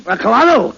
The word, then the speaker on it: colonel: pretty high rock no no no not colano it is no no you see that word is pronounced colonel colonel yes colonel uh where did he fight oh my uncle he fought with the original 13 colonies castella let's uh colonies oh come on you said it was cannoli no now make up your mind look it's very simple in in military parlance c-o-l is pronounced car as a colonel yeah uh don't you